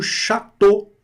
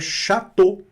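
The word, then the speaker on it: château: E mais A mais U também, O, né? Olha que legal. Só que aqui é chateau. Chateau, ótimo. O A aqui do mesmo jeito, abertinho, puro, limpo, cristalino.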